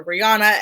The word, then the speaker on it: Rihanna: I believe Rihanna was about, and I should say Rihanna, the way she pronounces it.